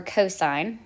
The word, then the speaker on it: cosine: of the opposite over the hypotenuse C or cosine is really how that's pronounced is going to be the adjacent over